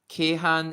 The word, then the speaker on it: Keihan: Then Keihan is Kyoto and Osaka. That's why Kyoto is Kyo can also be pronounced as K.